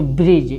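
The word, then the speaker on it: bridge: इसको ब्रिज क्या पढ़ेंगे, ब्रिज। आई कहें कि जी से पहले डी आया, ई साइलेंट हो जाएगा, और जी यानी लास्ट में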